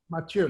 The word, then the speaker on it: Mathieu: Mathieu. It's almost like a sneeze. If you're the Canadians who watch hockey, and it's a common first name, Mathieu. It's just a little bit of the TH. Mathieu.